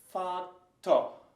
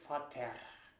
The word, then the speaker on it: Vater: And one example is Vater. And you hear like an open and quick oh. Oh. So kind of oh. Vater. You would never say Vater unless you make fun of the German language.